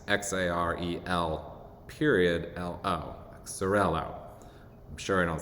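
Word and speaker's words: Xarel·lo: And I'm sure I'm going to pronounce this varietal name wrong, but it's Xarello. It's spelled with an X, X-A-R-E-L, period, L-O, Xarello.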